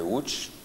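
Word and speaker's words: Łódź: avons également un projet avec la ville de hooch s'écrit lot mais qui n'est pas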